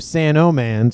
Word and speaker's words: Sanoman: So we have Sandman and we have Sanoman. So hopefully I will pronounce the O in Sanoman so I don't confuse myself and everybody else watching.